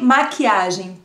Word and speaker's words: maquiagem: Make-up-Pinsel heißt Pincel de Maquiagem. Pincel, kannst du sagen? Pincel. Pincel. Pincel. Ja, L am Ende des Wortes spricht man U.